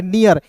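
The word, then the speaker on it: near: नेर नहीं पढ़ेंगे। इसे पढ़ेंगे नियर कैसे?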